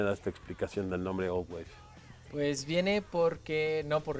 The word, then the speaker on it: Old VVave: Platíquenme, ¿quién me da esta explicación del nombre Old Wave? Pues viene porque, no por Ringo Starr, y bueno, se escribe con dos V's por motivos legales, por así decirlo, si nos llamemos con W.